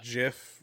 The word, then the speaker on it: GIF: if you pronounce it if you pronounce it jiff rather than gif right i guess i